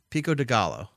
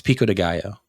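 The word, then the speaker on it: pico de gallo: after the split roll Pico dealo okay cool I just I love the way you mispronounce that every time why no it's just fun I love hearing it because it's Pico Deo but you know you're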